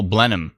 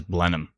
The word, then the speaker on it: Blenheim: oh my oh someone told me how to pronounce it I messed it up I'll Blenheim that's what it is Blenheim that's right Blenheim it's pronounced as Robin thank you very much